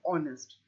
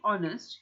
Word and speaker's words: honest: the same thing honest the H is a silent h so we do not pronounce the H we don't say it's a silent h we say honest so since we saying honest we have to have